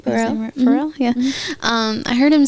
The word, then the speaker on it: Pharrell: That's how you say his name. Pharrell.